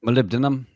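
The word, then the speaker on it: molybdenum: Malibdinum. That's the one. Yes. I can't I can read but can't pronounce it.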